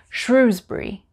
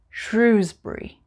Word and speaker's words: Shrewsbury: For example, number 19, Shrewsbury. Shrewsbury.